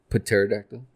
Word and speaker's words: Pterodactyl: Pterodactyl. The P is silent.